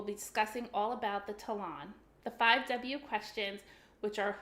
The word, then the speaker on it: Talon: So in English, we pronounce it Talon, like the word salon.